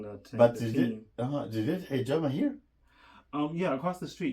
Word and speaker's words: Hijama: House of Is that how you pronounce it? yeah, hijama.